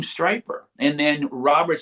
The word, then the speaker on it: Stryper: And someone wrote down the name Stryper. And then Robert said, "Well, what if we spell it with a Y, so it rhymes with hyper?"